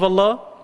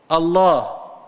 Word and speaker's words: Allah: if you say Allah, Allah, it has only one meaning, and it's actually a name. And it sounds like it's a two-syllable word. A two-syllable word.